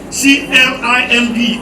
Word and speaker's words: climb: in the ending have mute b you don't pronounce b c l i m b is not climb it is blind the b